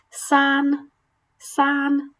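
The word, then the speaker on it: 三: San, san. And it's pretty much just like sand, san, san, san.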